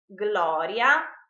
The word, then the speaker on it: Gloria: pronounced Y in fact if g l are followed by the vowels a e o and u they are pronounced separately GL GL like for example in the word GLE for instance Gloria glutin globo are pronounced just as the English words Glory gluten and Globe instead if the letters